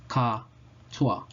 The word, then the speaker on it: SOHCAHTOA: So we've made up 3 acronyms, and they're pronounced SOHCAHTOA.